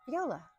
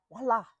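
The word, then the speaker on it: voilà: And viola, voila, voila, right? I always think it's viola because that's how it's spelled, but voila in French, right?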